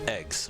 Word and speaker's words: AGWS: __ ] ui so the acronym is agws it's pronounced eggs no i don't